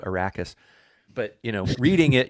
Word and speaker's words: Arrakis: said attradies so i always think of them as paul attradis but atreides and the planet ericus which i used to call ericus but now it's called arrakis but you know reading